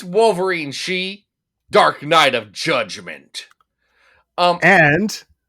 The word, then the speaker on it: Shi: At best, I was aware of she, which is spelled shi.